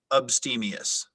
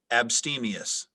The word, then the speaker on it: abstemious: and never orders dessert it has an alternate pronunciation of abstemious abstemious may you repeat the